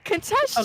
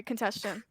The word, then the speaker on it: contestation: Contestion. Okay, Contestion. okay. I'm sorry. Contestion. I'll say it now. I'll say it right now. I'm sorry. Contestation.